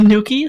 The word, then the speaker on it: Noukky: I just called my character Noukky, and nobody ever pronounced the A anyways. They all called me Noukky.